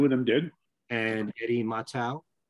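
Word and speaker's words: Mottau: And Eddie Matau. Was that how you pronounce his last name? Yeah, Matau. Yeah.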